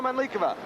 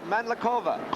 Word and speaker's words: Mandlikova: Now, Hana Mandlikova or Mandlikova. Take your pick on the pronunciation. She says she doesn't care.